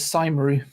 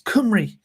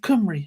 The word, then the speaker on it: Cymru: In fact, it was only when I moved to Wales that I realised that Cymru is spelt or pronounced Cymru. My English brain was reading it as Cymru, which is obviously not right.